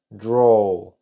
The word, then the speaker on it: draw: y más que drow draw y observen que está suena como una O draw una u demasiado suave rojo ahora vamos a